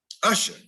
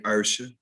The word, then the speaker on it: usher: evening don't add evening uh usher now there's a performer and those are people at the church don't say ursha now ludacris gets away with